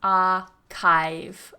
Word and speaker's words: archive: So make sure you're not doing it with a ch, archive, but it's archive, archive. Yeah, so mind the vowel and mind the CH.